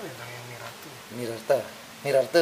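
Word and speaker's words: Nirartha: Nirarte, Nirarte bacanya.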